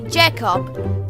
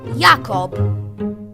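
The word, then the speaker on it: Jakob: in German as simply Jacob, when in German it's meant to be pronounced Yakob.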